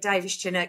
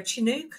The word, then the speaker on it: Davies-Chinnock: Davies-Chinnock is, it's normally people go Chinook, like the helicopter, and I go, it's close enough.